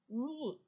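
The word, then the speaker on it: knee: বা ধরন, কিচেন রান্নাঘর, নি হাঁটু, কে এন ডবল ই নি, দেখো কে উচ্চারণটা হচ্ছে না, এন থেকে হবে উচ্চারণটা কিন্তু বানান হবে কে দিয়ে।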